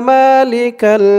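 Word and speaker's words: مالك: আউজুবিল্লাহি মিনাশ শাইতানির রাজিম বিসমিল্লাহির রাহমানির রাহিম আল্লাহুম্মা মালিকাল মুলকি আল্লাহুম্মা আমি আপনাদেরকে অক্ষরে অক্ষরে শব্দে শব্দে ভেঙে ভেঙে সঠিক উচ্চারণ করে বলে দিব আপনারাও আমার সাথে সাথে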